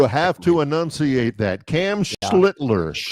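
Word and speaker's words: Schlittler: I'm glad you pronounced that. You have to annunciate that. Cam Schlitler. Schlitler.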